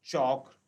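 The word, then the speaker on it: chalk: तो चॉक, टॉक, फोक में L silent है।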